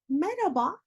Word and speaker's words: Merhaba: telaffuz edeceğiz hemen bakalım Merhaba oradaki H sesi Sanki yokmuş gibi Merhaba nasılsın Merhaba Merhaba değil Merhaba daha yumuşak bir diğer öğretmenimiz Yarın